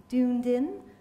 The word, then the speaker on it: Dunedin: books um her novel Dunedin is that how you say it denen denan I suddenly realized that was a Scottish word everyone gets it wrong for forgive my americanism